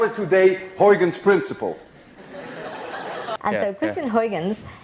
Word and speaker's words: Huygens: we now know as hoygan's principle at least you call it huygens principle but we don't call it horrigan's principle you see this sound uy is pronounced in dutch as ou none of you can